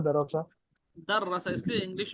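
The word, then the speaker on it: دَرَّسَ: और इसका पढ़ाना जो आपने अरबी वर्ड बोला है वो है दरोसा। ये बराबर पढ़ रहा हूँ मैं, दरोसा? दर्रसा, इसलिए इंग्लिश में भी उसका प्रोनाउंसिएशन मैंने लिख दिया, दर्रसा।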